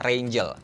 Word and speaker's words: Raingel: Brandnya itu, kalau nggak salah, dibacanya adalah Rangel. Tulisannya sih Rangel.